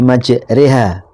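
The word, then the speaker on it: مَجْرٜىٰهَا: Jadi ada lafaz bismillahi majriha. Mestinya maj ro kan ketika kaidah pada umumnya tajwid. Kalau di fathah rnya ro. Tapi di sini wajib imalah dibaca e.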